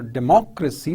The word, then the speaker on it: democracy: talk about aristocracy or democracy so you see the stress on the second level on the second syllable right so that's why